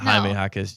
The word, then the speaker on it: Jaime Jaquez: No, not Jaime Jaquez Jr. Oh, sorry. Close. Haywood Highsmith. Okay. I see how you got there. Pronounce the J's like H's in the English language.